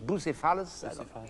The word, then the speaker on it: Bucephalus: I don't know how you pronounce in English, Bucephalus.